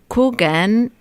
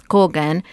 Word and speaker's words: Kogan: you pronounced that right i was coogan in english sounds because in argentina it's kogan but it spells with the w the double o i see so here